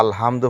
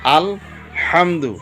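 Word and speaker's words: الحمد: নামাজের মধ্যে যদি কেউ আলহামদু পড়ে তাহলে নামাজটা ভুল হয়ে যাইব। আমরা কিভাবে পড়তাম? আল হামদু। আল হামদু।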